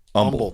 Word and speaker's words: Humble: need to be more humble brother um no I learned that you pronounce Humble Texas as Umble Texas Umble yeah I'm learning all